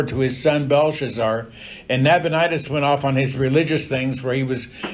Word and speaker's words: Nabonidus: Now, some people pronounce that Nabonidus. I don't care how you pronounce it. Nabonidus is probably correct. I've just always said Nabonidus, and I can't change now.